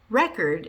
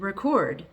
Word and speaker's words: record: Or record and record. Record, a record. Or record, record. I need to record a video.